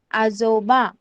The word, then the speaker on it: आजोबा: Pronounce कैसे करना है आपको? AJOBA, आजोबा.